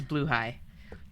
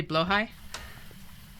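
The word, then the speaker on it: Blåhaj: Because I know that it's Bluhai, but honestly, you say Blowhai? That works too. I think that Blahaj just sounds cute, though.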